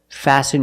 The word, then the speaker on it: fasten: listen and fasten example fasten your seat belt fasten is a verb and the T is silent you need to fasten your